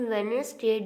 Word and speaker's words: Wednesday: इन वेडनेसडे, D is silent letter.